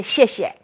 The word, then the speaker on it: 谢谢: Okay, so when you say, when a lot of Chinese English people or American, they see XIE, they don't know how to pronounce. Can you pronounce it? If you use your American phonics. That would be right? But in Pinyin, it's a 谢谢.